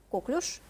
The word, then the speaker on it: коклюш: нам Мы все уже привыкли говорить коклюш правильно ударение на второй слог Да это правильно говорить